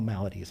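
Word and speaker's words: Maladies: Emperor of all malades I have to say it right.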